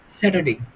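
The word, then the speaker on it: Saturday: নট স্যাটারডে। স্যাটার-ট্যাটার লাগাম না আমরা। আমরা খুব সুন্দরভাবে উচ্চারণ করব স্যাটারডে। স্যাটারডে, স্যাটারডে।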